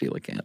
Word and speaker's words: coelacanth: he was able to say, this is a coelacanth, coelacanth. Right. Well, that's what he said at first, and she went, it's pronounced coelacanth.